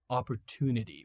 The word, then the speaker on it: opportunity: In American English you can pronounce it uh like opportunity with a to sound not a ch sound. Okay. A two sound is much much better.